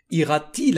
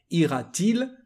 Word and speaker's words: ira-t-il: So to improve, to better the pronunciation, we add a T. It's not something grammatical, it's just actually for the pronunciation. But we write it this way. Ira-t-il à l'école?